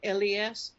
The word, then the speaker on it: les: Right there it's pronounced like les, L-E-Y. But les amis, you hear the Z, les amis? Because the word ami starts with a vowel, you pronounce the usually silent S on the end of les.